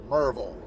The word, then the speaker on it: Maryville: So as we're coming here to Maryville, Tennessee, and I got to make sure I pronounce that right. The locals will say, hey, there's no 3 syllables. It's just Maryville.